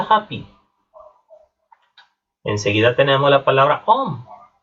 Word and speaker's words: homme: Enseguida tenemos la palabra homme. Y en este caso tenemos una H y es una H muda.